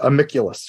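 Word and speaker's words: Amicvlvs: your first work, I'm afraid I'm going to mispronounce it. So I'm like, trying to avoid Amiculus, right?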